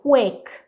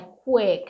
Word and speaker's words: quick: Essa ideia de quick, observa a minha pronunciation. Não é quick, não é quick, é um izinho fechado, ó, quick.